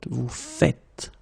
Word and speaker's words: vous faites: it like that and it's not vous faisiez but vous faites.